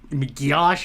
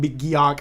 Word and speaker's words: McGeoch: I said John McGeoch or something. I am so embarrassed. It's John McGeoch. I don't know where I got John McGeoch from.